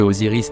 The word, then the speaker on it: Osiris: Remarquez que la forme Ozel est la même chose que Osiris qui normalement se dit Osiri ou encore Osiré selon la prononciation kamite.